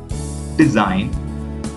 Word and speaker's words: design: next letter is G here in these words we are not going to pronounce the letter G so try to pronounce the first pronunciation is foreigner a sign design a line campaign let